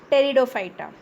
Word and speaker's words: Pteridophyta: Cryptogamy is further divided into three divisions: Thallophyta, Bryophyta and Pteridophyta. P is silent here. So this is Thallophyta, Bryophyta and Pteridophyta.